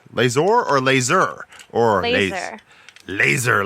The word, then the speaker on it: Lazor: Is that actually how it's pronounced, or do you just like it when people pronounce it like that because it sounds awesome? It's laser normally.